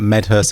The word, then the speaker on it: Medhurst: Your second day, how do you pronounce it? Medhurst? You can call me whatever makes you happy, but Medhurst is normally what I go by.